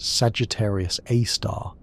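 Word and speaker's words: Sagittarius A*: Often written as S GR A star and pronounced Sagittarius A star.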